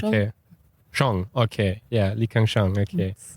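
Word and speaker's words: Kang-sheng: is it Le Kang Shang is that correctly pronounced okay Shong okay yeah Le Shang okay okay whom we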